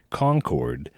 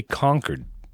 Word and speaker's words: Concord: here we don't say concord like they do in north carolina we say conquered yeah right so almost as if it's spelled the c-o-n-c-i-d conquered massachusetts like i conquered this country right exactly exactly lexington